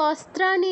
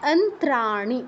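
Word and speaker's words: অন্ত্রাণি: পারি তাহলে কি হচ্ছে এটা কিন্তু অস্ত্রানী নয় এখানে অনেকে অস্ত্রানী বলে অস্ত্রানী নয় এটা কি আছে অন্ত্রানী অন্ত্র আমাদের অন্ত্র আছে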